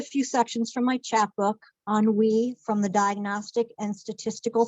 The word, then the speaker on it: ennui: Pronunciation, ennui, ennui, also Henry.